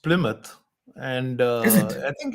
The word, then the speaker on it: Plymouth: found out that this the last one is pronounced Plymouth and uh I think it's it's the original